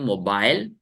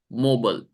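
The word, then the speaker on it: mobile: सकते हैं दो तरीके से पढ़ सकते हैं मोबाइल या मोबल मोबाइल या सब कोई मेरे साथ प्रैक्टिस करो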